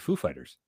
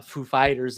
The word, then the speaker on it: Foo Fighters: It's like, "Are is the accent on the the the fight or the the the the Foo or the Fighters?" He's like, "Oh, it's on it's on the fighters, sir."